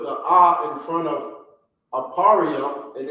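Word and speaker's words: אֶפְרַיִם: ah or the symbol ah okay is ephraim ephraim is how it's pronounced in the english in the hebrew it's aparrio okay so the ah here we have it right here apario apario okay so the r in the beginning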